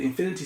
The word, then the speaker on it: Infini: It is pronounced like Infini, with the French style pronunciation of the in.